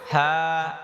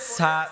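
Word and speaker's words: ث: তা পরে থা হরফটা নরম হবে জিহ্বার আগা দাঁতের আগা থা অনেকে এটাকে পড়েছা ছা ছা ছা এমন করে না হা ছা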